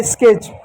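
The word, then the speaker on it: sketch: मात्रा लिख दिया और TCH को सिर्फ च लिखते हैं, टी साइलेंट होता है तो च लिख दिया, हो गया स्केच।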